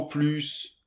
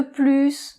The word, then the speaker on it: plus: De plus. - De plus. - Oui - Donc là on va prononcer le S, et on prononce aussi le S quand le mot "plus" est un substantif.